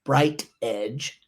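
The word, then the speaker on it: BrightEdge: And I've been told that my South is in my mouth a lot, so let me spell it. BRIGHTED. That's GEEDGE. Bright Edge.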